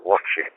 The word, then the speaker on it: Watchet: In a town called Watchet, which is spelled Whiskey Alpha Tango Charlie Hotel Echo Tango,